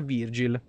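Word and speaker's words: Vergil: Si pronuncia Virgil.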